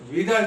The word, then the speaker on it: Widal: Number 11 इज विडाल test. इसका spelling है WIDAL, बट it pronounced as विडाल, V नॉट W।